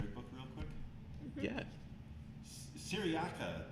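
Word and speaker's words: Cyriaca: Yeah, Syriaca, before, right, that's how you pronounce that name, before he releases her, tells the story of the machines, Yeah.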